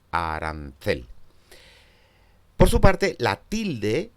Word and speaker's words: arancel: O en la palabra arancel es la tercera de ellas, la que recibe esa mayor prominencia articulatoria y por lo tanto es la sílaba tónica, arancel.